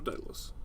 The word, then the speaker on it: Daedalus: How do we pronounce that? Is it Daedalus or Daedalus?